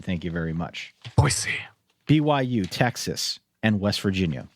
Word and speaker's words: Boise: NC State, Utah, Iowa, Wisconsin, Boise State with the proper pronunciation. Thank you very much. Boise.